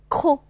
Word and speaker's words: croc: tresse, crèche, prose, trop, croc. 这个词的 c 不发音，然后因为是开音节了，所以 o 就发成闭口的 o 了啊，不